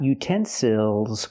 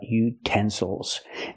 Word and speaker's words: utensils: We stress the second syllable. Utensils. Again the third syllable is not stressed. So we cannot say ill. We have to say oh utensil.